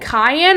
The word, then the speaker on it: Cayenne: Isn't it Cayenne or why are you saying Kiane? Isn't it Cayenne? Because it's pronounced like a pepper.